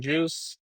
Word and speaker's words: Jeuse: If I'm going to go by Juice, I'm going to spell it different."